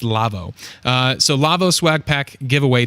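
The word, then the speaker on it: LAWO: The company's name there that's spelled L-A-W-O, they're German. It's Lavo.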